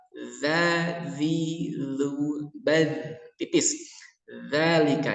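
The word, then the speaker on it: ذَٰلِكَ: Zalika ya, tipis bukan za, beda. Kalau za itu tebal, ini tipis. Za.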